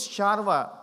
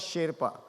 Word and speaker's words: Sherpa: So it is Sharva. It is not pronounced as Sherpa. Sharva, people of the East.